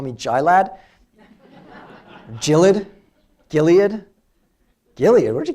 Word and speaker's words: Gilad: My name would be pronounced by my Moroccan Israeli family. They would say Gilad. How do you spell that in English? Gilad. Gilad. It's almost like an apostrophe. I don't know.